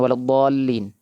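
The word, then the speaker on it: وَلَا الضَّالِّينَ: Perhatikan waladin. Dnya enam harakat dol enam ketukan. Ya. Kemudian lam ada tasdid maka ditekan doin.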